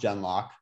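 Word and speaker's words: gen:LOCK: It's technically, no, it is pronounced Genlock.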